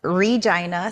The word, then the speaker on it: Regina: would get into it let's go I'm from Regina Saskatchewan Canada and yes I said it right Reina Saskatchewan Canada um It's a Small Town in